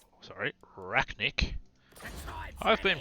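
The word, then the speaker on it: Arachnarok: so we're going to replace him with a razzaniac sorry racknick i've been pronouncing that wrong the entire time oh makes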